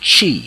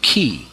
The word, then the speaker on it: Qi: that's what Prana is in Chinese languages they call it chi chi written uh that's in the Roman side writing it but in the pure Mandarin and other ways other languages is spelled Qi it means the same